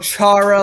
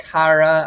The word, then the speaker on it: Chara: It's not Zdeno Chara like you pronounce it in America. It's actually Zdeno Chara.